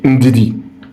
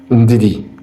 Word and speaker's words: Ndidi: Another person I can teach you. Ndidi. Ndidi. That's how you say it.